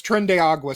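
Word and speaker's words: Tren de Aragua: I think it's trenda. Okay. I don't know how that Yeah, that's that's trendiagua.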